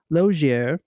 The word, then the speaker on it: Lozier: Lozier is the French way.